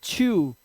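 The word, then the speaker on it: chew: जैसे अब देखो CH है, CH के बाद EW दिखाई दिया तो इसने आपका उच्चारण क्या हो गया, आपका उच्चारण हो गया च्यू।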